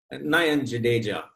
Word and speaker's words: Nayan Jadeja: I pronounced your name correctly. Nayan Jadeja.